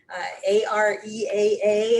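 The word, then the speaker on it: AREAA: estate organization there's um a-r-e-a-a i think it's just pronounced area which is the agent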